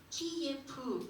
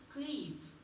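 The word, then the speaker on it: Київ: 심지어 이제 이 지도도 지금 보시면은 우크라이나 수도 키예프 이렇게 표기가 되어 있어요. 근데 사실은 우크라이나 사람들은 키예프라고 부르지 않고 크이프 이렇게 조금 크이프이라고 발음을 하는 겁니다.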